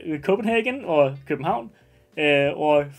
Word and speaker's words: København: In Danish, København. Very far away from Copenhagen, but it is København in Danish. København. But is it 1 Quebec, 2 New Orleans, 3 Copenhagen or København, or 4 Bolivia?